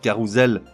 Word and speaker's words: carrousel: doser un seul s le mot se prononce donc carrousel comme écrit avec un Z enfin féérie là ça